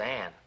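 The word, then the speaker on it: Anne: no that see that that says an the this e is silent just pretend it's not even there it's silent why well I don't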